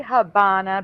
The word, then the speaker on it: Havana: Dave says Havana no they say Havana because the v in Spanish sounds like B but I've never seen